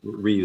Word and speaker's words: Ryu: you could probably say it either Um, way, but Ryu is the correct pronunciation.